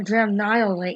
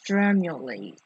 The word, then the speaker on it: Dramulate: Now he said it's called Dramulate. So I was wrong. It's not Dramnihilate, it's Dramulate. Whenever you're ready.